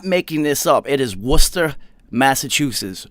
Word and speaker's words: Worcester: and i'm not making this up it is worcester massachusetts not warchester they will look at you like you're [